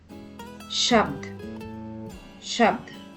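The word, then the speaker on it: शब्द: Finally, the word shabd. Here, bha becomes half letter and joins the sound dha, making it to sound ibd. Shabd, shabd.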